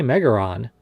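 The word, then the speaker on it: メガロ: Yeah, why does And it there's say Megaron? in Japanese, the name Megaron is actually, or Megaro, sorry, is the Japanese pronunciation, and R and L's usually get interchanged in the Japanese language.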